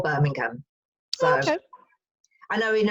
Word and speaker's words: Birmingham: My hometown is called Birmingham. So okay. I know in America it would be pronounced Birmingham, but we call it Birmingham.